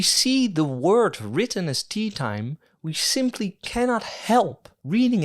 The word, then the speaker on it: Teatime: He tells us that his name is actually pronounced Teatime. Pratchett writes it out phonetically each time Teatime corrects someone. Mr. Teatime?